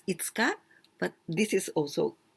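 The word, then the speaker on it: 五日: But here 5月 it means May, 1月 January, 2月 February, 3月 March, April, 4月 5月 May, and 5日we pronounce itsuka, but this is also 5, go, and nichi, this is the day.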